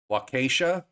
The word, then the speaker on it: Waukesha: other one was, which I know how to pronounce. The other one is Waukesha.